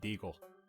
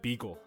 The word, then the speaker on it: Beagle: Truly showing how big of a bum I am, I make my way to Deputy Deagle. And I realize his name's Deputy Beagle, and I said the name wrong.